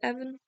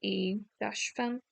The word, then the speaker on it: Evan: Would you pronounce it Evan? But it's like E-Fan.